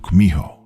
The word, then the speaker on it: Kumiho: In Japanese, you've probably heard of it as Kitsune. Though in Korean, it's pronounced Kumiho.